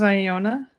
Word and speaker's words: Iona: Uh, this is Iona.